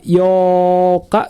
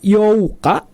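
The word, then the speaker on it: 八日: di tanggal 8 ada Yoka gitu ya itu dibacanya buka yo Kak bukan seperti itu ya atau dibaca Yuka bukan seperti itu tapi dibacanya dua harkat panjang bisa jadi Yoka gitu ya tetap jadi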